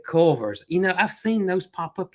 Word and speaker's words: Culver's: No, it's Culver's. Culver's. Yeah, there's that extra syllable is a difference between a seafood restaurant and a burger joint.